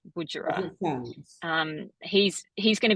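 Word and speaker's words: Budjerah: Spell it. Uh, B U D J E R A H. Budger.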